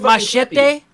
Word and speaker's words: Machete: like um have you guys seen the movie Machete with uh I love that movie Machete kill the first the first machete was amazing but the second one first of all it's pronounced maete Dimension I know you're from Alaska so you